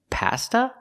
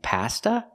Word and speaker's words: pasta: long e Pizza and Pasta we don't say pasta not in America we say pasta use the short a sound like hot and stop pa pasta so the words are